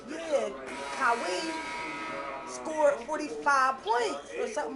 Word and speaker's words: Kawhi: that's- Like, his name is Kawhi. That's how you pronounce it.